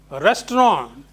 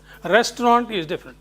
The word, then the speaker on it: restaurant: It's a French word pronounced restaurant. Restaurant. Not restaurant.